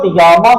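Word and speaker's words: da Gama: तो अब हम आते हैं थर्ड पॉइंट पे, वास्को डी गामा के बारे में, जिसके बारे में आप लोग अवगत होंगे। वास्को, इसको डगामा है, डगामा, इसको डिगामा नहीं कहा जाता है।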